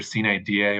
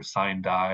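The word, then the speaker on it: sine die: always struggle to pronounce it's either it's either c da or sign die or shine die it it depends on who you ask but that that is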